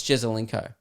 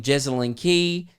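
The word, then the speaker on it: Jesaulenko: __ ] conversation where a girl was pronouncing jezelinko's name wrong there's an old afl footballer who's quite famous for taking a big specky i think his name's alex jesuinko right she was calling him jessalyn key jessalyn carr i heard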